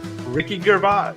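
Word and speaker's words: Ricky Gervais: alive anybody there this is Ricky gervas that's how you say it oh sorry sorry the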